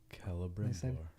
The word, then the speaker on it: Celebrimbor: C is always pronounced as a K. Someone just said that. Good to know. Celebrimbor.